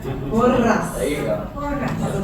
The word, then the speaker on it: Porras: Thanks for pronouncing it right. Porras.